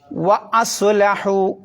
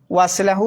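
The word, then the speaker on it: وَأَصْلَحُوا: മിം ബഅദി, മിം ബഅദി, പിന്നെ മിം ബഅദി ദാലിക, പിന്നെ വ അസ്ലഹു. വ കഴിഞ്ഞിട്ട് എന്ത് ചെയ്യണം? അ ഉച്ചരിക്കണം. ഖത്തയിൻ്റെ അംസയാണ്. വസ്ലഹു എന്ന് ഓതാൻ പാടില്ല എന്നർത്ഥം. വ അസ്ലഹു, വ അസ്ലഹു. അവിടെയുണ്ട് അലിഫ്, അതിന് ഉച്ചാരണം ഉണ്ടാവില്ല.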